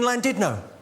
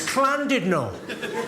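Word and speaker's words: Llandudno: It's Clandidno. In Wales, the double L is pronounced with a C.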